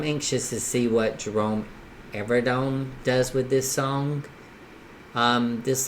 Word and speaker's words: Evardome: How do you pronounce it? Evardome po.